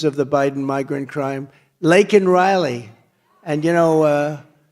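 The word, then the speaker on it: Laken Riley: the Biden migrant crime lakan Riley and you know uh Biden was unable to pronounce her name called called her Lincoln Riley and this was right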